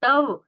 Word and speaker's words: तव: होते हैं ना तब तव तव में व का अर्ध उच्चारण नहीं है।